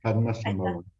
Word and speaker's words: Padmasambhava: En el 98 editó Las enseñanzas de Padma, bueno, me lo vas a decir tú, ¿cómo se pronuncia esto? Padmasambhava, Ahí está, Padmasambhava.